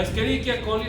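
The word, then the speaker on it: Escherichia: la esqueria Cole que si le dice eicha quiere decir que el su docente no sabe latín porque la ch se pronuncia la esqueriquia coli Flora microbiana normal humana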